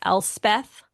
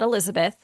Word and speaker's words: Elspeth: There's one the main character is Elspeth, not Elizabeth.